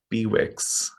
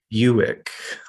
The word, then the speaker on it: Bewick's: up, we always said Bewicks, but it's apparently this guy pronounced his name like the car company. So it's supposed to be Buick, like the car.